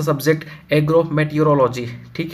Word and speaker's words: meteorology: ठीक है, देखो यहाँ पे थोड़ा मिस्टेक हो गया है, मेट्रोलॉजी नहीं होता है, बहुत लोग ऐसे इनको प्रोनाउंसिएशन करते हैं, मेट्रोलॉजी नहीं मेटीरोलॉजी होता है।